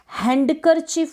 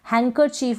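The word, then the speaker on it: handkerchief: जैसे कि ये है, हैंडकरचीफ बोलते हैं तो गलत हो जाता है। रुमाल को आप इंग्लिश में हैंडकरचीफ बोल देते हैं, हैंकरचीफ बोलेंगे, डी साइलेंट रहेगा। डी क्या रहेगा? साइलेंट रहेगा हैंकरचीफ में।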